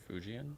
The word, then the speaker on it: Fujian: Fujian. Fujian.